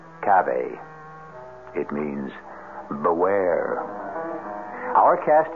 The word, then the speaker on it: cave: Latin word spelled the same way c-a-v-e but pronounced Cabe it means beware our cast included Marion Zelda's